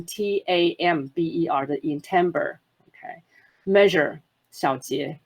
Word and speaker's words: timbre: Timbre 这个字非常非常重要，就是尤其我们在讲音色的时候，我们都讲这个字是比较难念，是 timbre，它不是 timbre，大家要稍微注意一下，是 timbre，它是念成 tamber 的音 timbre。